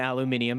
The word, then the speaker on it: aluminium: um you are right on the aluminium aluminium is the correct way to say that you're also correct with the